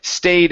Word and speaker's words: stayed: Okay, so make sure to pronounce that D sound here. So this is stayed out of the way.